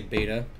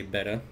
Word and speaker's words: betta: don't care either way sometimes I say beta but most of the times I say betta everyone knows what you're talking about anyway so but betta is the correct English pronunciation Oh lumpy Doge Ritz